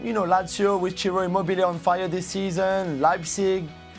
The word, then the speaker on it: Immobile: Hey, it's Immobile. Eh? It's Immobile, not Mobile.